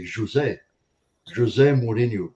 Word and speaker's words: José Mourinho: It's weird because I've got Portuguese family, and they actually say it differently. They say José Mourinho. That's how they say it. The J is a J. The J is a J in Portuguese.